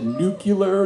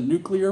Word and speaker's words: nuclear: with George Bush because he said nucular instead of nuclear whatever we knew any